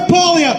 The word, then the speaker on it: Poilievre: How do I pronounce? Pierre Poilievre, thank you.